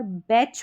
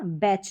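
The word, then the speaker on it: batch: तो यहाँ पर बैच पढ़ रहे हैं इसको, क्या, बैच, जो ये टी साइलेंट है, टी का उच्चारण नहीं हो रहा, और सी एच को यहाँ पर च करके पढ़ा जा रहा है।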